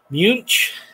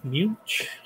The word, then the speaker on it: Munch: Munch, like German, Munch.